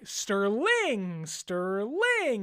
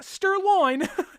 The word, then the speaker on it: Sterling: Like, Sterling, not Sterloin.